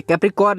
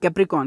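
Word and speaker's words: Capricorn: English में बोलते हैं कैप्रीकॉर्न ठीक है कैप्रीकॉर्न नहीं कैप्रीकॉर्न क्योंकि जहां पे आर साइलेंट है कुंभ राशि को इंग्लिश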